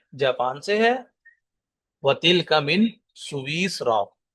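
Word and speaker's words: سويسرا: وتلک من سویسرا، اس کا آپ نے تلفظ ٹھیک کر لینا ہے. اس میں یا بھی ساکن ہے اور سین بھی ساکن ہے.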